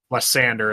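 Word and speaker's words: Lysandre: Lysander, that's how you say it then.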